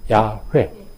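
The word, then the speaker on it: יהוה: 근데 후에 여기에 모음을 붙여서 불러보니까 어떤 발음이 되더라는 거죠? 야훼, 야훼 이렇게 되더라는 거죠.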